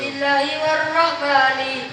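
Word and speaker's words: بسم الله الرحمن الرحيم: Itu bacanya salah. Terus yang benar gimana Kang? Musik dipakai dulu. Bismillahirrahmanirrahim. Wa birrahimin daimil ihsani. Itu Kang bacaannya yang benar.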